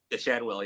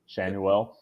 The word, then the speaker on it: Schanuel: I love Mickey Moniak, and tell me if I'm pronouncing this wrong. Nolan Schanuel. Shanwell, yeah. Schanuel.